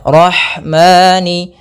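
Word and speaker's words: الرحمن: lafal ha Rah ah alirkan nafasnya pada lafal ha karena di sini ada hukum taujid berupa eh maaf ada sifat huruf ha yang itu sifat Hames mengalirnya nafas Rahmani rahmanirrahim kemudian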